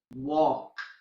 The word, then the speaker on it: walk: letter L in English there are some monosyllabic words that end with LP LF and L M that have silent L for example walk talk cough how calm and calm well all these words have a silent L okay and then there